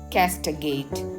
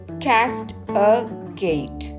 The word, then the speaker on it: castigate: கேஸ்டகேட் இதை நம்ம எப்படி உச்சரிக்கணும் அப்படின்னு பார்த்தோன்னா கேஸ்ட் அ கேட், கேஸ்ட் அ கேட், கேஸ்டகேட் இதுதான் இதனுடைய உச்சரிப்பு.